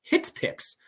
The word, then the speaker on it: HCPCS: that situation okay lastly we have the the Hicks picks code so hcpcs is actually pronounced hits picks for short and a Hicks picks code because